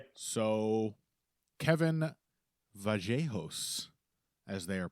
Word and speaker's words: Vallejos: So, Kevin Vajos, as they are pronouncing it, I learned he is indeed from Argentina, where I know for a fact that people say Tortisia.